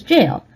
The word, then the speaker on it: gaol: problem for example GAA gaol scale is pronounced as jail but so is je